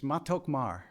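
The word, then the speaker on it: מתוק מר: in hebrew so i looked it up it's matokmar in other words it's sweet bitter and i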